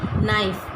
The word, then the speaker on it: knife: अब नाइफ़ की स्पेलिंग में हम KNIFE लिखते हैं, लेकिन हम उसको पढ़ते वक्त जो है वो नाइफ़ पढ़ते हैं, यानी हम के का साउंड नहीं निकालते।